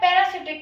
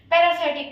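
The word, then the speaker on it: parasitic: फिर थर्ड आता है पैरासिटिक न्यूट्रिशन। पैरासाइटिक न्यूट्रिशन, इसका सही प्रोनाउंसिएशन पैरासाइटिक न्यूट्रिशन होता है।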